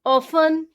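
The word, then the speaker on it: often: Like listen, ऑफन, इस सब में आप देख रहे हैं कि T के बाद EN आ रहा है तो T को नहीं बोलेंगे, सीधा ही बोलेंगे लिसन या फिर ऑफन।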